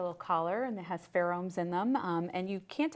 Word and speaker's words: pheromones: And we know that celery has that very unique, specific aroma, and he's discovered 2 pheromones. Could you pronounce that word to me?